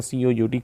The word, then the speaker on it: cout: ਇਨ C++ the standard output stream is requested using predefined object called pronounced as cout so as to perform standard output operation।